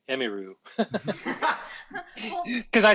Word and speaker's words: Emiru: most people say, people call me Emmy, but it's Emiru, but I don't mind if people call me Emiru.